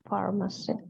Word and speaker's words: pharmacy: go to the pharmacy. Go es ir, to es a. Ir a, ir a. Ahí dice ir a la farmacia, ¿ok? Que se pronuncia con F. La PH es una Pharmacy.